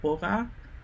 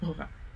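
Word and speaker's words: 보라: So it's not B as in Bora, it's not P as in Pora. It's in between. It's kind of like Bora.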